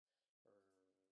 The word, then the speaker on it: Magit: like to call it Maggot because I think it's kind of cool, but it's probably pronounced Magit or something that rhymes with magic.